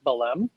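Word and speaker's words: Belém: from lisbon over to bellum belem there's an accent on the second e b e l e m e accento over to there and i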